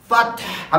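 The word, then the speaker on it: فتح: कहते हैं सूरह फतह फतह अब यहां देखें मैं प्रोनाउंस कर रहा हूं फतह कौन सा हा इसके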